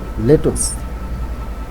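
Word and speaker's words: lettuce: Sorry লেটোস। আমার প্রোনাউন্সিয়েশনটা ভুল হচ্ছে।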